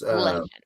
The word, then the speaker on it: Leshen: It's Leshen.